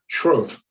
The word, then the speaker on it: Schroth: There's no E, it's just Schroth.